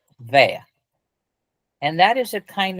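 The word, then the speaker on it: vair: Pronounced vea.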